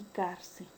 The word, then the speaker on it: cárcel: Cuando es una palabra grave o paroxítona, cuando la mayor fuerza de voz recae en la penúltima sílaba. Tenemos el caso de inmóvil y cárcel.